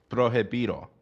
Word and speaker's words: prohibido: How do you pronounce it? It's prohibido.